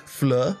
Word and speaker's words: Fleur: Florges sounds like fleur, the French word flower, and Fleur Delacour is